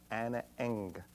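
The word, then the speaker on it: Ana Ng: The song is called Anna Eng, but it's spelled A-N and an N-G.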